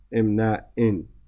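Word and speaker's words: إمناءٍ: And this should be a sukun, a tanween here. إمناء. It should be imna'in, right?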